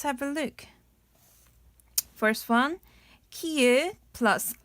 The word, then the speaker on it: 키읔: So pronunciation is 키읔. 발음은 키읔.